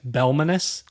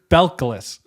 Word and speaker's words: Belcalis: I think I'm going to mispronounce it. It's fine. Belcalis Marlanus Almanzar. Focus on the first name. Belmanus? Belcalis.